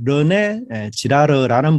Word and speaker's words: 르네 지라르: 이 발음을 잘 해야 돼요. 르네 지라르. 제가 몇 번 발음하다 보니까 자칫하면 이게 욕설이 될 가능성이 많아서 조심스럽게 발음을 또 천천히 합니다.